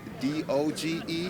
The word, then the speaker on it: DOGE: And I like D O G E. How you pronounce that? Doge. I love him and Elon Mus and Doge.